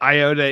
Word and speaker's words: Iota: Well, I've never heard of Iota Sigma, but Iota is the correct name of the Greek letter.